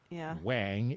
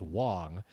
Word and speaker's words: Wang: And also, there are many skaters who, for example, Luke Wang, who pronounces it Wang instead of what it should be pronounced as, which is Wong.